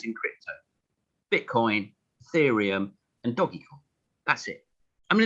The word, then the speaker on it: Doge: to tell us why doge and why not first of all i want to say that everyone should pronounce it doggy because it's a dog